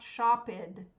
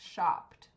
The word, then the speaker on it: shopped: many syllables just one how many in the past tense shop not shoed it's shopped one syllable with a t sound open how many syllables